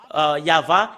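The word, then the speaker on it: יהוה: C'est le livre de Torah qui stipule bien que c'est Yahva qu'on le prononce, et c'est avec cela qu'on le prononce au ciel des cieux, Yahva.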